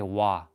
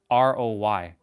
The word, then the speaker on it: Roy: O Y Patrick Wah if you say Patrick Roy he'll like slap you silly Patrick Wah so it's interesting That's how French people say Roy is Patrick. Patrick Wah wah. Patrick Wah like w a w.